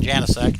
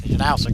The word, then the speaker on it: Janowski: Janowski. I keep saying Janisk. Janowski is the way it's supposed to be pronounced.